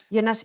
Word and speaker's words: Jonas: your last name I know it's a hard pronunciation it's yonas m yonas m difficult outside German um speak uh parts